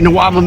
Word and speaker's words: NWOBHM: what that sounds for you could pronounce it as a word it sounds like a weird word it's not really a word but we say Noam anyway no way anyway